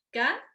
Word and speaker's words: caer: Entonces, por ejemplo, si se preguntan cuántas sílabas tiene caer, no es caer, ¿eh? Eso sí, eso ocurriría si llevara acento la A, por ejemplo, pero no es caer, caer. Caer tiene dos sílabas.